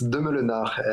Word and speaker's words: Demeulenaere: Yeah, actually, it's Demeulenaere, and it's a Belgian name, so you don't have to pronounce it.